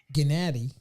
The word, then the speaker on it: Gennady: where he might go Gennady that's how you're supposed to say his name Gennady Golovkin but you